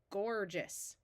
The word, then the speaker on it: gorgeous: we add the suffix o s which is pronounced us and all together we get gorgeous right here we have the root of Courage